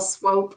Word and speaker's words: Swope: And just for the record, it's Swope, rhymes with rope.